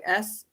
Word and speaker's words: gnosis: In English, the word is it's a silent G, but it's spelled Gnosis, but Oh, it's Gnostic.